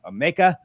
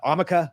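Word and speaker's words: Ameca: arts it's called uh omeka uh amica i believe is how you say it and this is their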